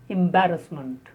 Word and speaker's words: embarrassment: The next is embarrassment. Embarrassment. The stress on ba.